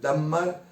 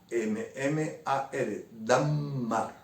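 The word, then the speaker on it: dammar: El Dagmar se escribe D-A-M-M-A-R, Dagmar.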